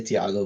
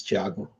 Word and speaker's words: Thiago: of people just say Thiago which is fine as well but you know in Portuguese it's Chiago if you want to say it in Portuguese uh my next book